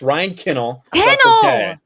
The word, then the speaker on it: Kinel: to have him here ryan or am i saying it wrong already you're saying it wrong i think you learned from gary who pronounced your name wrong on friday night tights now it's ryan kennel that's all right gary